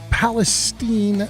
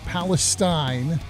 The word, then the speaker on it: Palestine: Palestine, not Palestine. Which I had somebody somewhere hit me with the mnemonic, Steen is mean, Stein is fine.